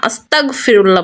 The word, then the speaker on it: আস্তাগফিরুল্লাহ: শুধু এতটুকু শব্দ আস্তাগফিরুল্লাহ, আস্তাগফিরুল্লাহ, উচ্চারণটা গাইন হবে, গ হবে। বুঝতে পেরেছেন? ভুল করে ক বলা যাবে না, আস্তাগফিরুল্লাহ বলতে হবে।